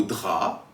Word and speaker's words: drap: Par exemple, pour le mot drap, dans lequel on n'entend pas le B, on peut penser au mot draperie ou encore au verbe draper. Ainsi, on entend ici le P.